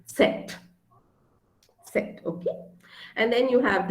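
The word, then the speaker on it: Zett: oops cylon and um the alphabet z is pronounced as set set okay and then you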